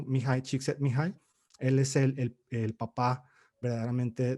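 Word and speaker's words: Mihaly Csikszentmihalyi: Y ellos toman sus principios de esta persona que nunca sé cómo escribir su nombre, pero aprendí a pronunciarlo, Mihai Csikszentmihalyi.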